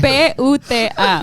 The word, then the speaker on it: puta: Spell it for me. What's it supposed to be? P-U-T-A.